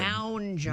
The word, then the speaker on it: Mounjaro: That's a Mounjaro.